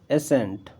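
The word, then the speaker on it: ascent: Otherwise इसका pronunciation नहीं करेंगे तो क्या करेंगे, एसेंट।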